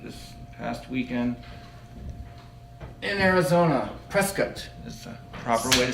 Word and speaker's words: Prescott: Prescott is the proper way to say that from what I'm told.